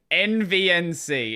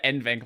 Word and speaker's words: NVENC: Why does he say NVNC instead of NVENC like everybody else?